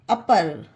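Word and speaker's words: upper: Example है हमारा यू पी ई आर, अपर। इसे यू पर नहीं पढ़ेंगे कि यू आया तो ऊपर पढ़ें, ये गलत होगा। इसे अपर पढ़ेंगे क्योंकि ये रूल में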